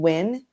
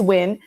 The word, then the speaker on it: Nguyen: So, Len, my last name Wyn or other people call it Nyen or Nulian or however you want to pronounce it. It's win um n g u y n lcs for licensed clinical social worker.